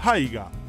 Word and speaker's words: haiga: Además, existe el haiga, pronunciando la H, que es un estilo de arte japonés.